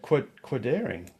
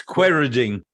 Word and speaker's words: Quairading: Quirdaring? It's Quairading.